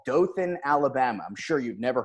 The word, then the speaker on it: Dothan: does how do how do native do--the onehans pronounced Dothan its Dothan yeah well we're down there with the southern